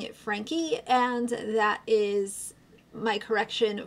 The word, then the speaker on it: Franke: seen videos here and there but she actually pronounces it Frank E so I stand corrected I will going forward be pronouncing it Frankie and that is my correction for today but